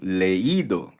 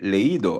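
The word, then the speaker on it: leído: Ah magbasa magiging leido yung i magkakaroon ng accent mark. E leido as leido i have read.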